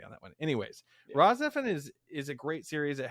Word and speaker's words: RahXephon: But if you can chase down even some way to watch it, there is a series called Raw Zephyr. It is a spell it.